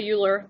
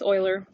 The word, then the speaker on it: Euler: dubbed the euler line so not euler don't say euler then you sound like a silly american who can't pronounce things correctly it's euler all right next page the